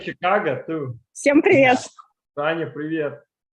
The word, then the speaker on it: Chicago: words Chicago and Michigan, because in English they have the French sh sound for ch, but when people speak Russian, it's Michigan, and it's Chicago. A lot of people say Chicago too.